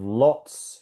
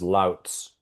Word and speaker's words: lots: Instead of lots, he says louts.